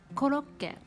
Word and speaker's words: コロッケ: making japanese curry croquette we pronounce it koloke koloke is a very